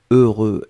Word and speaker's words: heureux: prononcé deux fois heureux donc ne ne regardez pas le h ne regardait pas le x ne regardait pas le eu juste fermer les yeux visualiser c'est cette combinaison heureux heureux et après vous allez voir c'est assez facile à prononcer deuxième chose concernant ce